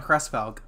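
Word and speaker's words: Hresvelg: Edelgard von Cressfelg. That's how it's pronounced.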